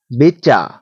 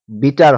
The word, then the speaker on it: bitter: বিচ্চা বিচ্চা অর্থ তেতো। এখানে একটু ভালোভাবে লক্ষ্য করুন। BITTER। অনেকেই ভাবি আমরা BITTER এর দ্বারা বিটার হয়।